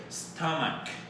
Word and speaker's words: stomach: That's the stomach. CH at the end. That CH sounds like a K, right? Like it has a K sound. It's like K, right? Stomach, right?